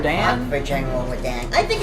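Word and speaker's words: Radahn: fought for General Radan.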